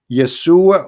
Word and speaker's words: Yeshua: You say yes, Yesu, but there's no so no side no Yeshu. What Yeshu? It is Yeshua or Yeshua.